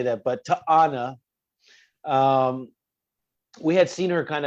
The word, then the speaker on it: T'Ana: try to get on Katana's good side, right? Or did I say it right? T'Ana. T'Ana. Yeah. I always say Katana.